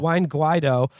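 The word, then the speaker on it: Juan Guaidó: The drive to replace Maduro with National Assembly leader Juan, how do you pronounce his name again? Juan Guaido, which has been the Trump administration's most robust foreign policy initiative after the attempt to disarm North Korea, has stalled.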